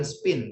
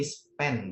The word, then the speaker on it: spend: Jadi aku menghabiskan bukan spin tapi spend bacanya ya.